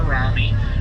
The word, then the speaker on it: Rami: But hey, you know, if you have enjoyed your cruise today, well, my name has been Rami, rhymes with salami.